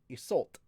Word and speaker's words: Isolde: It's chaos, just like how Isolde is pronounced Isolt.